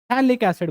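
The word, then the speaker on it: phthalic acid: ये थैलिक एसिड है, यहां पे जो P है वो साइलेंट रहता है, थैलिक एसिड बोलते हैं इसको।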